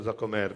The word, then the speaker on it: Jacquemart: grazie infinite al museo jacquemart perché non è che sa già come ecco l'accento sulla seconda vocale e dico grazie perché